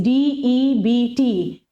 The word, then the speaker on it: debt: Debt means D-E-B-T. B is silent in this.